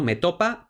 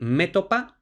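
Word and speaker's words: métopa: ya lo tenemos no me topa también me topa es todo lo que quiere decir es que Bueno pues la grafía y la pronunciación recomendada es metopa Pero también es aceptada metopa esdrújula luego Aquí viene la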